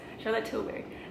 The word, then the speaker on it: Charlotte Tilbury: Okay, I'm like putting S in her name, and there's no S. Charlotte Tilbury.